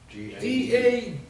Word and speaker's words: daughter: How do you spell daughter? D-A-U-G-H-T-E-R. If I was going to spell daughter, D-O-T-E-R, daughter. What about U-O-G-H? All of them are silent letters, 4, one after another. You don't pronounce them, right?